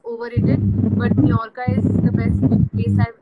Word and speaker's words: Mallorca: There is an island in Spain called Mallorca Island. It's actually in their language or how they pronounce it is Mallorca, and it is beautiful.